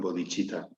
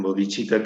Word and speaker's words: bodhicitta: proyecto de mi maestro, que es la Asociación Bodhicitta. La asociación Bodhicitta es una palabra sánscrita que se escribe B-O-D-I-D-H-I, perdón, C-I-T-T-A.